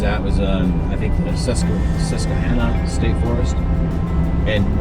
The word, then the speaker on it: Susquehanna: How do you pronounce that? Susquehanna.